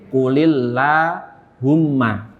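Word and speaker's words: قُلِ اللَّهُمَّ: Maka yang sukun ini harus diganti jadi kasroh. Jadi qulillahumma.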